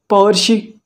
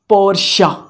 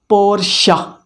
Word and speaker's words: Porsche: this company we have to know how to pronounce it is it powersheet no the right is porsha the right pronunciation of this word is porsha is it clear we have to call it